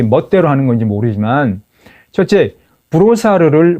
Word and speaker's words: Brossard: 이게 그야말로 관대한 생각인지 자기 편한 대로 자기 멋대로 하는 건지 모르지만 첫째, 브로사르를 브로사드라고 발음합니다.